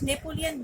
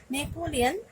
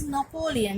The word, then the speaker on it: Napoleon: that someone pronounce it Napoleon Bonaparte. But the proper pronunciation is Napoleon. It's Napoleon. It's not Napoleon, because he is a French person, and in French the pronunciations are quite different from English.